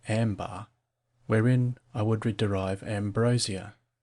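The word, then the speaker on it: عنبر: Footnote: Arabic: Anbar, pronounced ambar, wherein I would derive ambrosia.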